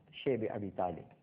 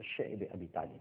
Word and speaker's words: شعب ابی طالب: اور اس کے بعد شیب ابی طالب، جس کو بعض حضرات شعب ابی طالب بھی کہتے ہیں، لیکن جس کا صحیح تلفظ ہے وہ شعب ابی طالب ہے، ایک گھاٹی تھی، آج